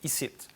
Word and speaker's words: ici: tweets qui jouait sur la prononciation du mot ici qu'on peut prononcer bien sûr au québec is it alors le premier tweet